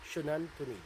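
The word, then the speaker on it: Xunantunich: Shunantunij. Surnan Shunan. Shunanternich. These Shunanternich rock ladies. So means maiden of the rock or maiden of the rock or a stone lady. Yeah. Now, the site of Shinantunij is believed to have been dated from about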